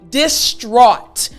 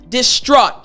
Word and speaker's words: distraught: today now i want to explain how to pronounce this word properly so distraught distraught now you'll see in this word of course